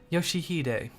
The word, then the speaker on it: Yoshihide: No, that's not how you read those letters. Yoshi, Yoshihide, that's how you say it.